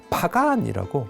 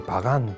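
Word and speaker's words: Bagan: 지금요 지도에 보시면 강위를 꺾이는 저 위쪽에인데 저쪽에 올라가면 파간이라고 미안마 최고의 고대 도시가 있습니다. 요즘은 이제 발음이 바간 바간이라는데 어이 바간은 그 당시 문제가 뭔가면 어 바로 위에 지금 윗난성이 보이죠?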